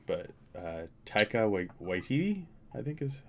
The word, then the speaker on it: Taika Waititi: I'm always going to butcher the pronunciation of this guy's name, but Taika Waititi, I think is how you're supposed to say it.